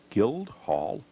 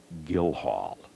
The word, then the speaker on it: Guildhall: yards away is this Guildhall Vermont whoops I mispronounced the name the sign here says that the D is silent like my daddy used